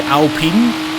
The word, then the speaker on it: Alpine: I mean, that that pronunciation is killing me. Seriously, I know it's meant to be Alpine according to the guys that have built the